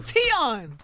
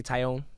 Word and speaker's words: Tion: Oh, Tion. I'm surprised you pronounced it right. I said, what'd you think I was Tion. gonna say? Yeah, Tion. Some people say Tyone.